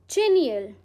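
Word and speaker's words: genial: हमारा आज का नेक्स्ट वर्ड है जेनियल। इसको कैसे प्रोनाउंस करते हैं? जीनियल।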